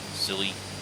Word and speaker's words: Scilly: to be heading to the skilly sealy silly however you say it it's s-c-i-l-l-y i think the way that i've heard him pronounce it is just silly island um to st